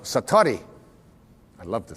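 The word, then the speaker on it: satori: it's called excuse my Japanese but it's called satari I'd love to say that satari s-a-t-o-r-i and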